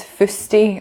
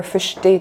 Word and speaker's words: fusty: One of my favourites is fusty or fushty, depending on how you pronounce it, which is if something's growing or mouldy or kind of gross.